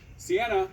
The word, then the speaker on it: Cianna: I knew I was pronouncing it wrong. You're not helping me. Cianna.